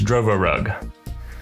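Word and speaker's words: Drovorub: But in actuality, the fancy bear did release a rootkit called, I don't know how to pronounce it, Drovorug. It's Drovorug.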